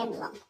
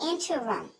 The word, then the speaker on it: interim: She still says in the emblem. That's not a word. In the interim, once again, in the interim, not emblem.